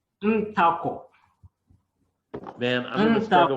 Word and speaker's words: Ntakor: And give me the pronunciation of your last name again. Ntakor.